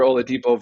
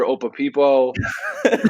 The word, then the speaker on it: Oladipo: Like he used to call Victor Oladipo Victor Opapipo. He used to call Jared Sullinger Jared Salinger.